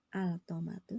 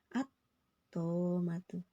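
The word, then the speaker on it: الطامة: Ini bacanya bukan altomatu tapi langsung ke atomatu. Alif lamnya ini bertemu dengan huruf to.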